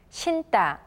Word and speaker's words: 신다: 앉다, 앉다, 신다, 신다. Notice that we pronounce the character 다 separately from the words 안 and 신.